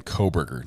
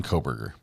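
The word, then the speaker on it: Kohberger: up here um the suspect's name is Brian spelled with a Bry let's see Brian coburger last name is k-o-h b-e-r -g-e-r Brian coburger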